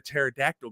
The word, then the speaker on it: pterodactyl: can't you hear a pterodactyl going to the bathroom because it's making jet fuel out of because the pee is silent ah and for all